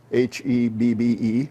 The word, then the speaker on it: Hebbe: My name is Hebby, Hebbe, rhymes with Debbie, which is what I tell the kids in school.